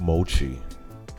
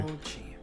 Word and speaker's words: mochi: But it's pronounced mochi. Okay. Mochi. Aisha 1994 says it's pronounced mochi.